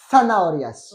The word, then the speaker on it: zanahorias: Et attention, d'accord, la Z en espagnol se prononce zanahorias.